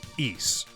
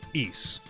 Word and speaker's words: Ys: series name it is East so think of like the word geese without the G just ease in Japanese it's issu